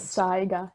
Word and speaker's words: saiga: some psyche um so what's actually the best way to pronounce it i've heard it pronounced different ways is it seiko or cyber how do you it's saga yes okay so this yes